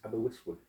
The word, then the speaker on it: Aberystwyth: I was in Wales I think it was Aberystwyth, I think it was called. Yeah. That's how you pronounce it.